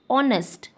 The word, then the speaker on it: honest: Honest, H is silent here, so it's starting with consonant.